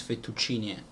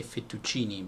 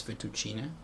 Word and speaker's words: fettuccine: In Italian it's fettuccine. And I know in English they say fettuccine, but okay, it's fettuccine.